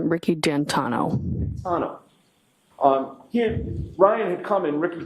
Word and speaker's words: Ricky D'Antuono: How do you pronounce the name? It's Ricky D'Antano.